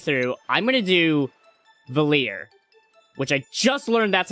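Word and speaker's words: Valere: Um, and I'm going to do Artful Gambit, which for this playth through I'm going to do Valier, which I just learned that's how you pronounce her name.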